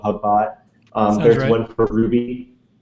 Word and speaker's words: Hubot: Um and so there's GitHubs, Hubot, um I've heard it pronounced Cubot, too, but I I think GitHub, Hubot.